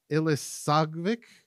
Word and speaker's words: Ilisagvik: I could say that I could probably say ilisagvik yes I said it right okay great thank you